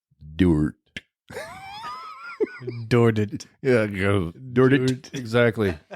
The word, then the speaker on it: Dordt: the end of our school's name is Dorf. Yeah. And if we couldn't pronounce the F, it might sound like Dordt.